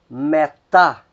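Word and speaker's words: μετά: Temos a palavra metá, metá. Então a que vai soar, a sílaba que soa mais forte é a última, é a tá, metá.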